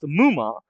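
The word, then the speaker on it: 夢魔: Uh, the Japanese used MMA, pronounced muma.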